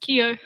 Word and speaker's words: Kyo: It's pronounced Kyo. Kyo, what's up, Kyo?